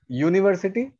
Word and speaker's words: university: When you pronounce university, the first sound is Y.